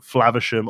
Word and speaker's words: Flaversham: You do not pronounce the A sound as in the A in flavor at all. There is no there's no correcting vowel in the second part of the world. Yeah, so I was going to say it is most definitely Flavisham or Flavisham, depending on how you would pronounce that A sound normally.